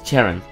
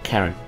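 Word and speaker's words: Cheren: This young man is Charon. Or Karen. I actually don't know if Charon or Karen, how to pronounce that. C-H, I think it's Karen.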